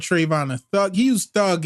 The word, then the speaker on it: Trayvon: Trayvon.